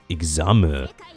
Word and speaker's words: Examu: It's made by Examu, which sounds like a Japanese person trying to pronounce the word exam. Examu.